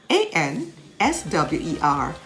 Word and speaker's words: answer: answer me if i ask you a question a n s w e r answer rock w r a k rack rap